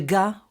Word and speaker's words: ق: There's a different pronunciation of the letters. There is the ga in the Muslim dialect. In Jewish, we'll say qa.